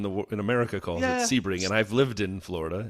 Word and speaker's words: Sebring: Sebring. If it was Sebring, wouldn't it be SE? plate. I mean, potentially, but the way that everyone in the in America calls it Sebring, and I've lived in Florida, it's Sebring.